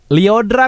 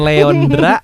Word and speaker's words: Lyodra: Lyodra ngap Lyodra, bukan Leondra, apalagi Lyodora.